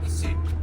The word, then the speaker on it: Isi: Nubian, Isi.